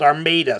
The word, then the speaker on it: Armada: cuz oh my God heaven forbid I call it an armid yet I lived into next to a city in Michigan for most of my life called armid spelled the same way Armada okay I don't have to call it Armada all the time okay get over it